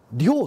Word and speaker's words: 両: うん、これもね、レフはね、量と読むんだね、これね、昔のね、二十両。